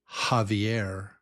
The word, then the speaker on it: Javier: But this is like the sound of J or hot in Spanish. I think for example, Javier. Javier. In English, we would spell that with an H. Javier. H. Javier. Yeah. It's no It's only H. It's only breath. No teeth, no voice. Just h breath.